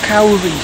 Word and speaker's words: kauri: I'm standing in front of the kauri tree, I think is how you pronounce it, and it's quite an important tree